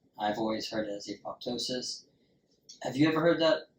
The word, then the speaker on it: apoptosis: apoptosis said that way so they call it a ptosis uh the p is silent I've always heard it as apoptosis have you ever heard